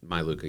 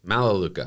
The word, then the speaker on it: Melaleuca: I know that at this point we're not in Myluca yet. Am I saying that correctly? Melaleuca. Yes. I was just leaving out a It's syllable.